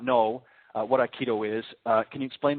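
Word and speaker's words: Aikido: I'm hoping I'm pronouncing this correct. So correct me if I'm wrong. Is it Iikido? Iikido.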